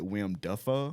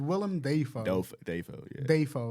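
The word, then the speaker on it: Willem Dafoe: you say his name William defo williiam Theo so his name is William de Deo like d a y fo OE that's how you pronounce it but when he got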